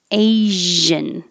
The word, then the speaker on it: Asian: this word russia and asian this is the same sh as rush but with voicing asian and this again